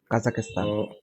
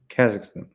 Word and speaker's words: Kazakhstan: name of the country kazakistan why is say kazakistan say it like Kazakhstan Kazakhstan like a one word kazakistan Kazakhstan Kazakhstan Kazakhstan